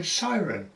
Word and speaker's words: Cirencester: I was at a loss as how to pronounce Cirencester, but one day in a class a student mentioned that he lived in Ciren. I said, where? He repeated Cirencester, and there I had it.